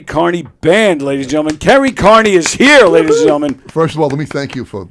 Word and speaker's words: Kerry Kearney: Ladies and gentlemen, Carrie Carney is here, ladies and gentlemen. First of all, let me thank you for pronouncing my name properly.